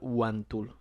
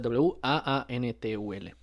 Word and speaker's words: J-wáan Tuul: Que en el otro caso, la pronunciación que se le daba al nombre en el primer relato era así tal cual, Huantul, sin la J. Juantum. Huantul, o sea, Waantul.